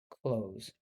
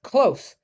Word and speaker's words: close: But then there's another word that's spelled this way, and it's close. The opposite of far is close, and that doesn't rhyme with pose because that has a Z sound that can throw people off sometimes.